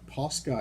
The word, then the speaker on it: Posca: The Posca, I think that's how you pronounce it. Posca, yes.